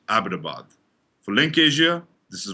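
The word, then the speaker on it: Abbottabad: of the leaked osama dossiers by the way ibadabad is pronounced abitabad for link asia this is vijaya hathas khan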